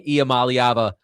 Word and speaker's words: Iamaleava: So, now I Now I can say Iamaleava like a freaking champ.